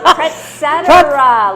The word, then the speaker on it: Pretzetera: Pretzetera, like et Pretzetera. Pretzetera, like etc.